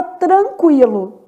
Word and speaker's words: tranquilo: lógica aqui em consequência na palavra tranquilo TR o n também é nulo quer dizer forma dígrafo não é pronunciado o u é pronunciado qui né l então na palavra